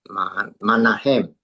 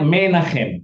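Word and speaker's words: מנחם: deketa hayom edi ma Manahem ya. Bukan mereka bacanya menahem.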